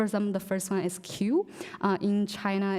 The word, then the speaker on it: Qiu: And then Qiu, that's my last name, is pronounced as Qiu. And then Qu, and the last one is Qiang. So Q is pronounced more like cheese sound.